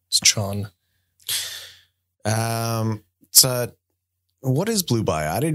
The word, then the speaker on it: Chon: Is that how you pronounce it? Chon? Chon? It's not Sean. I don't know. I'm pretty sure it's Chon.